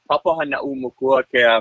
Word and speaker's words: Papahānaumokuākea: I had to practice this a lot before my first interview. It's pronounced the Papahānaumokuākea Marine National Monument.